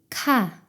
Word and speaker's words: 카: 목에서 공기를 더 강하게 터뜨리며 발음해 보세요. 모음 아를 붙여서 같이 발음해 보겠습니다. 가, 카.